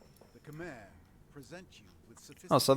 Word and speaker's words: Khmer: the Khmer present you with Oh, so that's how it's pronounced.